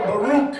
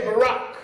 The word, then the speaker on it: Barack: When Obama was running, we couldn't even pronounce his name. Call him Baruch and Baraki and all of that. Took 6 months to say Barack.